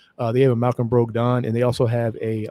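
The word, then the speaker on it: Brogdon: have accused i heard i heard it's actually broke broke don but i call it braga but anyway that's how i pronounce my o's uh they have a malcolm broke don and they also have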